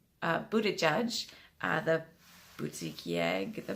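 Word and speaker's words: Buttigieg: was a Pete and you pronounce his name Buddha judge the would seek Yaga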